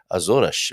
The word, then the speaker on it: Açores: i will you know i'll risk my uh reputation here with my portuguese pronunciation but it should be more like azornish we'll find out from